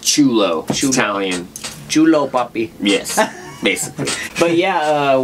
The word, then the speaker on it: Ciullo: c i u l l o yes it's pronounced chulo yes basically but yeah uh without further ado